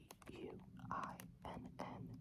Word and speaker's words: Gwynne: I believe you would pronounce that as Guinn.